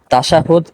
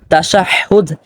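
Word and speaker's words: تشهد: উচ্চারিত হা নয় বরং এটা হলো ওই হা যে হা টা আপনার হলকের অর্থাৎ গলার শুরুর অংশ থেকে উচ্চারিত হয় কাজেই এখানে আমরা যদি উচ্চারণ করি তাশাহুদ তাহলে তাহলে এটা ভুল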